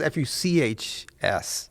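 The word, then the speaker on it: Fux: I thought it was F-U-C-H-S. Nope. F-U-X. F-U-X. Ooh, Fuchs. Yeah, Fuchs is what good.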